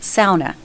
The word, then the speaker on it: sauna: One is I'm my heritage my heritage is Finnish and it's actually pronounced SA just in case there's any Finlanders out there.